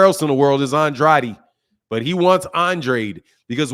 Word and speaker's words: Andrade: to be called like Demetrius Andre he wants Andre when the proper pronunciation everywhere else in the world is Andrade but he wants Andre because where he's from